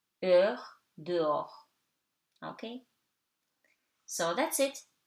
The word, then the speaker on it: heure: Okay, and something very easy, H is always silent. O, haricot, heure, dehors.